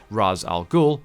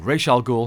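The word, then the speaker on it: Ra's al Ghul: Pit where her father Raz Al gou or R Al Gul however you choose to pronounce it is also bathing it's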